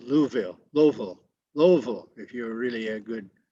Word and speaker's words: Louisville: kale by the way the r is not pronounced by the locals so it's ko pittsburgh uh and lewisville no that's called louisville louisville louisville if you're really a good uh